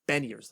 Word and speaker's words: Beniers: I have a really hard time pronouncing that name, but it's Beniers.